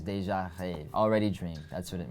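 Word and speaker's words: Déjà Rêve: I'm not French, but all my French friends who told me how to actually pronounce it is Deja Rêve.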